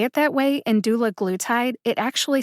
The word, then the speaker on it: dulaglutide: dictionary online shows that the letter a in doula glue tied is a short a like bat matte or patch that means that the